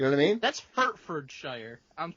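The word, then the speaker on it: Hertfordshire: it correct you know what I mean that's herfordshire I'm H agree that's how I would say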